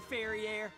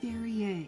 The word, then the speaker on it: Verrier: Shake your derriere, Ferriere. It's Verrier. Yes, that is the French way of pronouncing it.